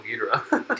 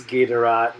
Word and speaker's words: Ghidorah: Where is Ghidorah now? And it's not Ghidorah. It's a Ghidorah. Actually, to be honest, in the Japanese, the Japanese pronunciation is always Ghidorah.